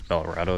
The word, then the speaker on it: Belorado: So, I'm heading to I think it's Belorado it's pronounced. Looks like it's Colorado just with a B instead of a C.